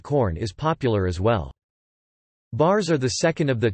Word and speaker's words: bars: Thorkelson notes that bars are not included in Webster's dictionary, and the word pronunciation of the R is with a pirate-like A-R-R-R, followed by a soft clipped S.